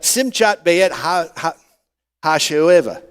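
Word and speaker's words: שמחת בית השואבה: It is pronounced the Simchat Beit Ha Ha Hasho'eva which is the celebration of the drawing of water.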